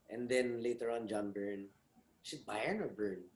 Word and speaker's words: Byrne: And then later on John Byrne. Is it Byrne or Byrne? How do you Burn. pronounce that? Byrne. There you go. Thank you. Burn like the fire.